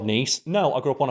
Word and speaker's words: Nice: the niece biscuits which named after the the city in France which is nce but people see the word nice written on a biscuit and nice biscuits they're Cally known as